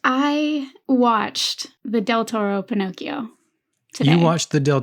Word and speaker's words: Pinocchio: Because the actual, like, the way you're supposed to pronounce it is Pinocchio. Pinocchio. Yeah, Italian. It's like two separate things.